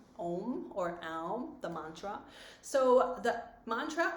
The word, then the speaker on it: Aum: So the reason when I say Om or Aum, because when I learned, my teacher taught me it's A-U-M, Aum.